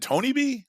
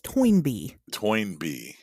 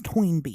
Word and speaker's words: Toynbee: familiar toy and be is it Tony B like that's what I would say and my my my gross mispron that's not correct I know my gross mispronunciate pronunciation of things Tony B tiles right no it's toy NB tiles no it's toinb tiles yeah I'm not kidding it's not toy NB it's tob yeah see that's What was last week's episode?